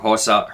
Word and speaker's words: Herzog: And then what ends up happening is Martin goes head-to-head with Herzog. That's how you say his name.